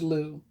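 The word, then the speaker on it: Lugh: sun god lou law guys pronounce lou l-u-g-h on the mid-summer holiday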